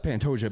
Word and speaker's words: Pantoja: Oh, that's Pantoja, baby.